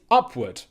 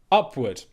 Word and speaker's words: upward: to get it right word number three is upward upward upward okay a very very common saying in English